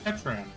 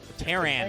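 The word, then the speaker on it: Pteran: I said Petran. Terran. Terran. You don't pronounce the P.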